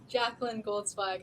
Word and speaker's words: Jacalyn Goldzweig: Jacalyn, what's the correct pronunciation, Jacalyn? Jacalyn Goldzweig.